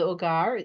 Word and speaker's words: hogar: Right, so vocabulary for the first paragraph, el hogar, H is silent, right?